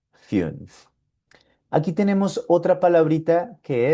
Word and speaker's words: fünf: Aquí tenemos esta palabrita que tiene U umlaut y sonaría fünf, fünf, el número 5, fünf.